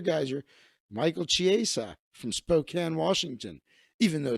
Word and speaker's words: Spokane: Michael Chiesa from Spokane, Washington, even though it's spelled Spokane.